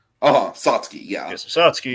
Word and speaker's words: Satsuki: But I believe the way we say in the movie, it's Satsuki. Satsuki. Yeah. Yes, Satsuki. There's like an extra U in there that's not pronounced.